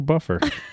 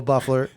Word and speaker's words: Buffer: say his name was Michael Buffer not Michael buffler buffler and with me today